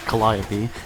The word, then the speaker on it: Calliope: And in the Pacific, you have the Sherman Calliope, yes, it's pronounced Calliope, and Cheehaw rocket tank.